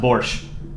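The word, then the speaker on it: borscht: quick um so uh yes I know that borch is not just a Ukrainian dish but in the context of uh um the short he's referring to it as Ukrainian and I know it's pronounced borch not Bor um now I know that uh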